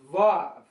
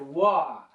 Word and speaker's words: Vav: And then verse 6, letter number 6 is Vav, or nail, or I've heard this letter also said Wah.